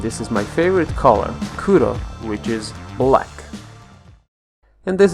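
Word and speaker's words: くろ: is the character do they're all pronounced between r and l this is which means six and this is my favorite color kuro which is black and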